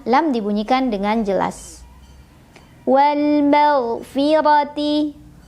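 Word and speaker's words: وَالْمَغْفِرَةِ: Wal maghfirati. Ra dibunyikan secara tafkhim karena ra berbaris dan barisnya di atas. Maka cara membacanya adalah ditebalkan. Wal maghfirati bi'idnih.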